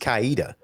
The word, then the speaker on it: Coweta: do you say that Coweta yeah if you're grounded by area if you if you were old school from that area you might pronounce it east kaita I was a little